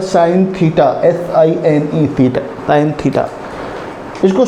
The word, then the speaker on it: sine: इसे सिन theta नहीं पढ़ेंगे, कुछ बच्चे पढ़ते हैं इसको सिन theta, but इट इज नॉट सिन theta, it is pronunciation as साइन theta.